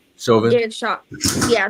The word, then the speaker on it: Chauvin: should pardon Derek I don't know how to pronounce that Rick man last Chauvin. name. Chauvin. Derek Shaw. Yeah, Chauvin.